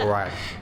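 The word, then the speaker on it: wreck: Kalau ada W dan R, dibacanya R aja. Wek. W-nya nggak usah dibaca. Rek.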